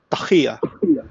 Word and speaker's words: taqiyya: Ça se prononce taqiya.